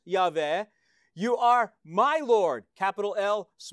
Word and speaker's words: Yahweh: four-letter name of God, YHWH, which we say Yahweh.